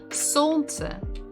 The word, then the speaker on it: солнце: So the stress is on the first syllable. Солнце.